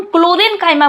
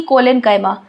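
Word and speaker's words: chlorenchyma: यहां पे हम क्लोरेंकाइमा बोल रहे हैं ना कि कोलेनकाइमा।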